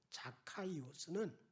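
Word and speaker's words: Ζακχαῖος: 그러나 오늘 본문의 삭개오, 헬라식 발음으로 자카이오스는 깨끗하고 의로운 자란 이름하고는 다르게 깨끗하지 못하게 불의한 방법으로 부자 플루시오스가 되었다.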